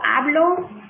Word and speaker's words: hablo: Okay, so we have yo hablo with a silent H.